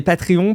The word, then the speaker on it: Patreon: Euh et je vais prononcer Patrion parce que je le fait bien à la française maintenant.